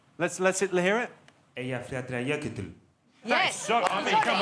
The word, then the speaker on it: Eyjafjallajökull: How do you think it should be pronounced, Jonathan? Eyjafjallajökull. Let's hear it. Eyjafjallajökull.